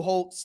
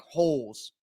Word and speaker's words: Holz: so I correct myself it's Nick Holtz like Lou Holtz the old coach from Notre Dame not Nick holes okay it's pronounced Holtz